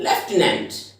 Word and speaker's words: lieutenant: लेफ्टिनेंट, LIEUTENANT, लेफ्टिनेंट, इसकी pronunciation भी है लेफ्टिनेंट।